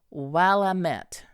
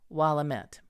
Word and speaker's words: Willamette: the last one, thus Willamette. The letters met not to be pronounced me, as in the French bouquet, but as met, as in the French word gazette.